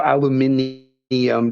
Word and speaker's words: aluminium: h with UK English they say aluminium I mean if you see how aluminum is spoil is spoiled what the flip is spelled there is no extra I to make it neum so aluminium doesn't make sense that's not how it's spelled um so anyway you